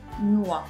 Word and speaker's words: noix: Une noix devient des noix au pluriel et le X n'est pas prononcé. Des noix.